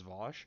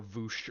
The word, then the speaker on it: Vaush: There's never a person who's like, yeah, Vosh is a giant piece of shit, and I'm going to pronounce Vosh as Vosh. They always are like Vaush or Voosh or whatever, and no one who's ever...